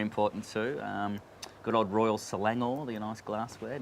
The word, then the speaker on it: Royal Selangor: bring them right in fastest on the right syllable is uh very important too um good old royal selangor the nice glassware not raw salanga as i said i think the first show